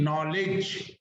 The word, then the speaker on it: knowledge: ये शब्द देखो नॉलेज में एक तो K साइलेंट है तो नो रह गया, W भी साइलेंट है, LDG नॉलेज, D भी साइलेंट है, इसमें 3-4, E भी साइलेंट है, 5 लेटर्स में साइलेंट है।